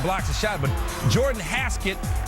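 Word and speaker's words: Hasquet: a shot but Jordan haset rhymes with basket coincidence I don't think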